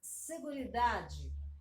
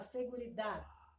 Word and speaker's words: seguridad: Então, ele quer mais seguridade. Você fala seguridade, com D mudo, né? Seguridade.